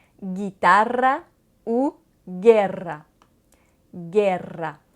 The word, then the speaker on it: guerra: Le U est un peu spécial parce qu'il est muet devant le I et le E.